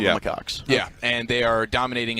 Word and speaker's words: macaques: The 214 says the correct pronunciation is the macaques.